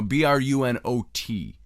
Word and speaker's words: Brunot: told the Chiefs it's Bruno Bru n o t is the way it's spelled t is silent it could be brunot I choose to pronounce it Bruno he told the Chiefs